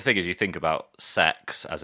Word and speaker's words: CeX: Um because the thing is you think about sex as it's pronounced or CEX as we prefer to pronounce it.